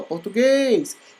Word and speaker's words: português: Vejamos, português. Então, chama aí, como se fosse nome de pessoa, português. Então, o guês é o mais forte, logo ele é oxítona.